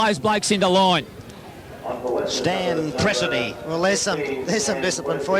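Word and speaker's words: Presdee: Pressody going on. I hope that's how you pronounce it. Pressody going on for Magpie. Presty.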